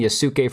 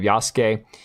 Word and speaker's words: Yasuke: I was saying Yasuke for a long time instead of Yasuke.